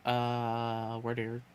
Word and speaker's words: Wardeer: You say it like weirder? Well, that's the point. That's what it's supposed to sound like. It's supposed to sound like the word weirder.